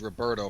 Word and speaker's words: Roberto: a character being named roberto from brazil in brazilian portuguese any a name in particular that starts with an r is not pronounced like an r it's pronounced like an h this annoys the crap